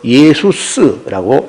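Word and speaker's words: Ἰησοῦς: 개념으로 히브리 발음면 여호수아인데 이걸 헬라어로 음영하면서 예수스라고 합니다. 예수스 그 예수 쓰인데에 우리가 또 할 때는 끝물 또 쓰 부드니까 예수가 돼 버린 거예요.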